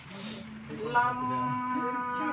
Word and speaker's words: Lam: How do you say it? Lam. You want the to vibrate.